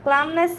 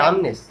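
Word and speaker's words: calmness: village Raihan very much I really like the ক্লামনেস hair Faria কামনেস কামনেস কামনেস ক্লাম সি এল উচ্চারণ হবে না না ওই যে ওয়াক বানান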